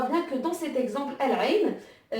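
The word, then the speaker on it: العين: En deuxième exemple, donc on va prendre El-Ain, qui veut dire l'œil. El-Ain, qui veut dire l'œil. Et donc qui s'écrit, qui se lit comme ceci, El-Ain. Et donc là, pareil, on voit bien que le lemme de l'article est prononcé, donc El-Ain, et donc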